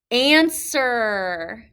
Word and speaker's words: answer: Answer. Answer. So that silent W, we can't forget it when we spell this word.